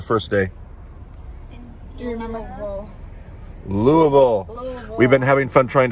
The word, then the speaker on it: Louisville: that it's louisville louisville louisville abbey was saying luluville lulaville and mama sang louis and and mom was like dad she was just saying louisville because we're weird like that we're from the